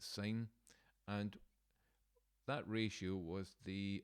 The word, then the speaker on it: sine: just looking at there the short hand is just s i n sin but we pronounce it sine and that ratio was